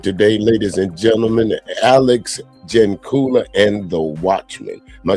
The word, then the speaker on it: Jancula: It's as I stated before we were talking, it's a weird last name, and I get a lot of bad pronunciations of it. I think my favorite one that I've gotten was Dracula, yeah, which okay, sure, why not, right?